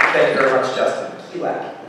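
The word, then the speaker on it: Qilak: Kylak is the way to pronounce it, actually.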